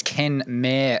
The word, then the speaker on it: Kenmare: Rio, Tinte, Kenmar, and Orex Global. Yeah, exactly. And we've been taught, Maddie, that it's Ken Mar apparently.